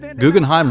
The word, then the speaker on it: Guggenheim: Guggenheim rhymes with rhyme.